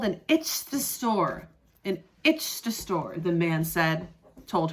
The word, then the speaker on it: ichthyosaur: It is called an ichthyosaur. An ichthyosaur, the man told her. Ichthyosaur. Ichthyosaur. Ichthyosaur. Can you say it with me? Ichthyosaur. 4 syllables.